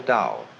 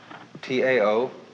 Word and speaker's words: Tao: So their principle of nature is called a Dao. T AO pronounced dao in the Mandarin dialect, Tao in the Shanghai dialect, toe in the Cantonese dialect.